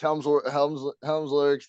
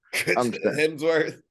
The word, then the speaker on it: Hemsworth: Everyone keeps saying I look like a young, Chris Helmsworth looks like I don't know how to say his name. Hemsworth. There, I said it right.